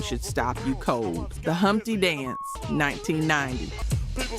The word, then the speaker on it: Humpty: Myself, my name is Humpty. pronounced with the umpty.